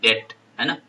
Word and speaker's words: debt: उधार को क्या बोल देंगे, अच्छा लोन बोल देंगे, अच्छा डेट बोलते हैं, DEBT, डेट, है ना, बी साइलेंट रहता है यहाँ पे, अच्छा डेट, उसको डेट बोल दिया।